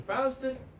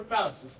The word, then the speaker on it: Faustus: John Fus and we're not allowed to call him Fis remember that he's Dr. Fus correct okay uh Wagner who is the servant of Dr.